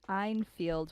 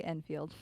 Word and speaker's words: Enfield: case known as the einfield poulter guys i think i'm pronouncing that correctly einfield or enfield i'm gonna say enfield and the reason why